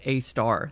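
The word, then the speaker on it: Sagittarius A*: 4, parentheses Sagittarius A, which I learned is actually pronounced A star. This A asterisk is how it's written, which is, of course,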